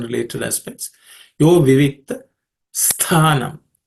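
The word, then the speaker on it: स्थानम्: Yo vivikta sthanam. This tha, the tha there is the second letter in the tha varga, so it has to be aspirated.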